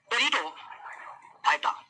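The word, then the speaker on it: Pteridophyta: आ जाइए अगले फैलम पर, और इसका नाम है टेरिडोफाइटा। टेरिडोफाइटा में जो पी है ना, ये साइलेंट रहता है।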